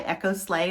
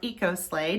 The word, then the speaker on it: EcoSlay: again orange marmalade is by echo slay or eco slay depending on how you say it so this orange